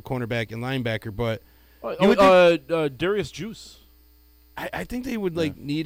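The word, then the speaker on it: Guice: I'm thinking Darius Juice at this point. Geis. Juicy. Geis, you mean? Is it Geis? I think it's pronounced Geis. Yeah. It's very French Canadian, by the way.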